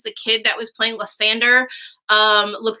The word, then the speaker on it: Lysander: You said Lysander? Lysander, sorry. I misspoke. Wait, is that how you really pronounce it all the time?